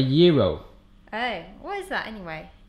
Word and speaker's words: gyro: Gyro? It's not called a gyro. Oh, what is it? A chicken wrap? A gyro.